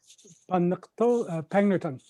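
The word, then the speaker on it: Pangnirtung: previously he coordinated a field school for trent university in the nunavut community of pang nuri tang how do you say it jeremy pegnerton thank you and undertook cabinet making birchbark community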